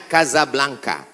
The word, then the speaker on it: Casablanca: Hasan dhuafa di Kota Kasablanka ibukota Maroko tempat saya kuliah nama negaranya Maroko ibukotanya tulisannya Casablanca cara bacanya Kasablanka Kaza artinya rumah Blanca